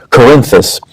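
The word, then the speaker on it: Cerinthus: They said the the author of the gospel of John was a man named Corinthus which is spelled C E R I N T H U S Corinthus.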